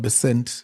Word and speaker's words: Bessent: Scott Bessent, I think that's the correct pronunciation. Yes, U.S. Secretary.